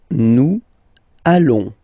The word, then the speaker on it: nous allons: Nous allons. Final S not pronounced, and then when you get this ON combination, you get this nasal on, really in your nose, okay?